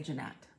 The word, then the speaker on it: Jeanette: It might be Jeanette. Jeanette? Oh, yeah. We say Jeanette. It's spelled different than it would be around here, but...